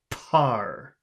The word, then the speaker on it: par: So instead of eating the air, you push it out instead. Par. Bar. Push it out. I have to hear you pushing out the air. It's a really disgusting sound. Par. Par. Again? Par. That's better. Par. Par. I have to hear some of that air coming out of your mouth.